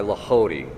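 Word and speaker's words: Lehodey: If you want a greater understanding of how to meditate, the book The Ways of Mental Prayer by Lahody, that's spelled Lehody.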